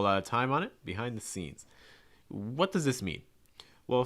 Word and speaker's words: behind the scenes: scenes behind the scenes key thing when you're saying this is you want to stress scenes scenes behind the scenes the behind is usually going to be reduced it's going to be said typically pretty fast so you don't want